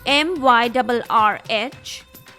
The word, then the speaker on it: myrrh: Let me spell it for you. MYRRH, whatever you want to call it. I think the best pronunciation is myrrh.